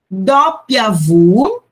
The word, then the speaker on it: doppia vu: Vocês podem até encontrar em alguns alfabetos também o V como o V pronunciado como VI, mas é bem menos comum, ok? O mais normal é VU, doppia VU, ok? É o W, se chama doppia VU, X, Y, Z, ok?